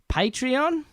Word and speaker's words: Patreon: can find us on patreon I've been pronouncing it wrong for the first couple of episodes but as patreon you can support us